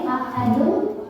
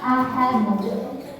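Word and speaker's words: أحد: Kemudian yang selanjutnya, misal di sini ada kata seperti ini, ahadun. Ketika berhenti kan berhenti jadi wakaf, jadi mati ya, jadi sukun, maka kita bacanya jadi kokola kubro. Ahad. Yang salah misal ahad nggak mantul ya.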